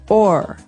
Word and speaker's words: o'er: So this is a way to make the word over shorter, because over, you can hear it, 2 syllables, over. Mm-hmm. But sometimes we only want one, so we say or.